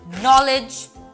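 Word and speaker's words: knowledge: এরপরে আসি কে তে, কে যখনই এন এর আগে আসে তখন সাইলেন্ট হয়ে যায়, যেমন নলেজ, নাইফ, নো, নি, এখানে কিন্তু কে সাইলেন্ট।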